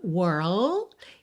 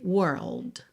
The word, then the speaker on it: world: Lembra de pensar primeiro até o R, were, were, depois bota o Lá no céu da boca, língua no céu da boca, world. E depois o D, world. World.